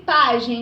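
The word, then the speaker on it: pajem: Então, eu tenho aí pagem, né? Ó. Pagem tem a penúltima sílaba mais forte, então é uma paroxítona, certo?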